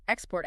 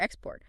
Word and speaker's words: export: OK, what about those words like record?Record. Minimal pair drills. Practice them back-to-back. Record, record, export, export. Really focus on shifting just the stress it trains control.